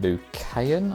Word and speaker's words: Lucayan: It's called 042 Lucayan, I think it's pronounced.